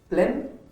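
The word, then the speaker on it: Plzeň: ये इवेंट है grand prix of liberation प्लेन PLEZN, जिसमें कि Z साइलेंट है, 2017 शूटिंग चैंपियनशिप में।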